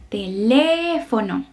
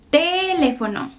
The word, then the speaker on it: teléfono: El acento está en la segunda sílaba. Entonces vamos a leerla teléfono. Ahí vamos a poner el estrés de la palabra. No es teléfono, tampoco es teléfono, es teléfono, teléfono.